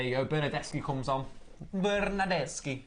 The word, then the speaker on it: Bernardeschi: Bernardeschi, as you say it properly in Italian.